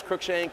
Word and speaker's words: Cruickshank: my last name is crookshank it's pronounced like crooked or crook shank so yeah i kind